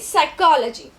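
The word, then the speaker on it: psychology: वन डे इन a class in साइकोलॉजी they which P जड़ा है वो silent है पी दी आवाज़ नहीं आती बट असी लिखना ज़रूर है।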